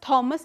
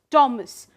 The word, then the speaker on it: Thomas: So, that's why we mention it as Thomas and not Thomas.